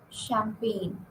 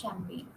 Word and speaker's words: champagne: phom aign nor so g is silent in these whether it is GM or GN sequence now next we are